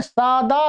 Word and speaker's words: सद्: स द ग म य द में अ नहीं है। ध्यान रखेंगे ये दोनों शब्द अलग-अलग है। ये मिले हुए नहीं है। अलग-अलग हैं। और ये द हलंत है। अर्थात आधा जिसको बोलते हैं स्वर से रहित है।